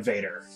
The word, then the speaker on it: Vader: said I am yeah vad means scorpion Vader scorpion Vader whoa oh come on what